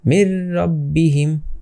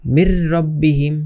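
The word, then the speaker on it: مِنْ رَبِّهِمْ: এই যে কারণ এটাকে এটাকে কেন আমরা উচ্চারণ করছি না? নুনের উপরে যে সাকিনটা আছে ওটাকে কেন আমরা উচ্চারণ করছি না? কারণ সাকিনের বাম পাশে দেখবেন যে এই যে তাসজিদ আছে তাসজিদ যদি থাকে তাহলে ওটার পাওয়ার বেশি হয়ে যায়।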